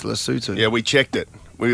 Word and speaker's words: Lesotho: Yeah, but it is actually pronounced Lesotho.